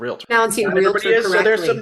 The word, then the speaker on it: realtor: you're a member of the National Association of Realtors what's that thanks for pronouncing realtor correct a realtor yeah the other